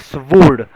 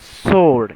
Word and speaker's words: sword: You will be very sad to hear it is not called as sword. It is pronounced as sword.